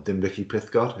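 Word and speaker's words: Dinbych-y-pysgod: And I've driven through Bilthwells if you're heading down to Tenby, or Dinbicky Pithgod, as it's pronounced in Welsh.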